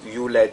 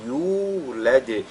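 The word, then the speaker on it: يولد: On ne veille pas à prononcer la lettre ya, c'est-à-dire à l'allonger, à allonger la lettre ya qui est prolongée par la lettre waw. Donc il ne faudrait pas lire yulad, mais yulad, lam yalid, walam yulad.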